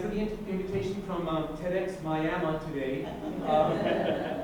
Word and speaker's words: Miami: the invitation from TEDx Miami today. I know it's pronounced Miami and not Miami, Florida, because my father Ramiro was born right here in Arizona.